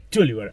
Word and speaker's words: Terwilliger: ¿Cómo se pronuncia más vos? Terwilliger.